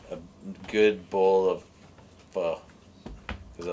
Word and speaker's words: pho: Oh, try and use the proper pronunciation. A good bowl of pho, because I like going out with what?